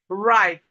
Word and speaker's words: write: Whenever we have W and R at the beginning of a word, the W is silent. So we have this in words like right, right.